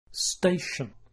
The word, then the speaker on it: station: our favorite word station it has two syllables listen carefully station station the stress is on the first syllable so the second syllable has a weak sound listen again station